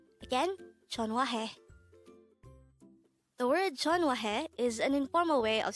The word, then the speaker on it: 전화해: this is pronounced as a three-syllable word the first syllable is john second syllable is hua third syllable is he pronounce it with me again the word jon wahe is an informal way